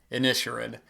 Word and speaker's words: Inisherin: even realize till recently, I've been calling the Banshees of Inisherin the Banshees of Inisherin. I heard somebody else say that, and I had to actually look it up how it's pronounced, and it is in fact pronounced Inisherin.